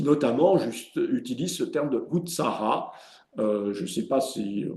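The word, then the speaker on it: utsāha: C'est Utsara, l'enthousiasme? Oui. Utsara. Utsara, on s'écrit U-T-S-A long H-A, Utsara.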